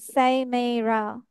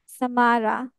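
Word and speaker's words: Samara: হয়েছে, কিন্তু আমরা কি কেউ বলি সাইমেরা? বলি না, তাই না? সামারা, সামারা বলি, বিকজ ওর নেমটা ওইভাবে, ইটস নট ইন ফর ইট, sometimes it doesn't go with the names have different sorts of pronunciations.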